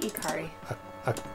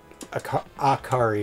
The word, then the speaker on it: Ikari: Ikari? Well... Ikari. Well... Akari is how I think most people pronounce it, Akari. Even though that's probably wrong.